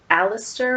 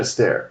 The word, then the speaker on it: Astaire: Fred Alistair or Alistair? Do we give her that? It's Fred and Ginger. It's Fred Astaire.